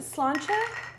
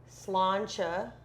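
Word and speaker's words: Sláinte: How do they Slancher, I think it says. Can you look it up, Google girl? No, she's right. I think I'm right. Slancha is exactly right.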